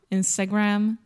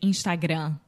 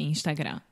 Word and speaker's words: Instagram: well I think that with the final m in Portuguese we don't close our mouth so we say Instagram without closing the mouth right we are smiling when we say Instagram um also it comes